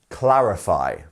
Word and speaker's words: clarify: next one which is clarify clarify and here we have clarify and where is our stress it's on the first one clarify so clarify clarify so it's on the first syllable here um next we